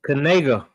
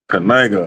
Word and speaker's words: Knigga: It's Knigga. Knigga.